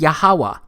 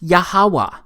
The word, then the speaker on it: Yahweh: simple back then that it vocalized each consonant with an ah sound without specifically marking that sound between consonants. So this YHWH, it's pronounced Yahweh.